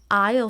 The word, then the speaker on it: aisle: A-I-S-L-E. We pronounce it as aisle seat. So A-I-S-L-E. We pronounce it as aisle without the S.